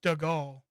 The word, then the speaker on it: Stagal: He said it's Stagle.